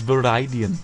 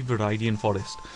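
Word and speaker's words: Viridian Forest: rattatas and we'll get a move on to veridan Forest that is the San pronunciation of viian forest no it's verian I checked it is definitely definitely verian Forest um okay thank you very much for watching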